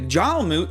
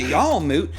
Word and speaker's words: Jarlmoot: to the north look if you're heading to jail moot or god damn i told you i was going to say it right if you're heading to y'all moot you best get going missy shout to a